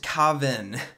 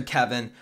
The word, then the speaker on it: Kavan: be using Dr Coven cavan okay it it's pronounced Kavin that's how a guy in my comments has